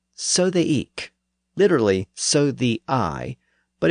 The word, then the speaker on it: ik: and Northerners said e well in parts of Eastern England especially around norfol people pronounced that word with a hard k sound at the end so they said eek usually spelled ik k and choser has